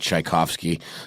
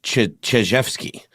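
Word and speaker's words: Chizhevsky: I keep seeing this name and I want to pronounce it Tchaikovsky. It's very close. It's Chijevsky.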